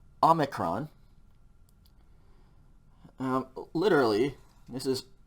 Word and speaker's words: omicron: draw an o okay omicron this is a short o sound and so it's going to be the o in omelette that starting o in the word amalet ah omicron okay so this is